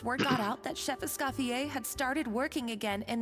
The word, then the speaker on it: Escoffier: Why did they say Escoffier instead of Escoffier, but then they say Fleuve Cendre? Be consistent. If you're going to pronounce it in French, pronounce everything in French.